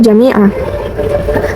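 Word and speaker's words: جَمِيعًا: Cara bacanya tanwin dihilangkan, panjangnya 2 harokat.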